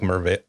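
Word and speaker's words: Merveil: No, it's like Mervale. He says it with an L. You hear the L.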